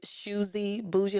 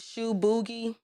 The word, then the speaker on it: Shoesy Bougie: Shoe boogie? No. Shoesy boogie? No, it's not. Shoesy, shoesy like choosy, shoesy bougie. That is the name, and I'll give y'all the backstory on the name later.